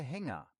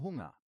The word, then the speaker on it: Hunger: Ein Hörer hat mal gesagt, ich habe Hänger, statt ich habe Hunger.